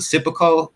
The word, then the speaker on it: seppuku: from a samurai culture, and which I can't pronounce the seppuku.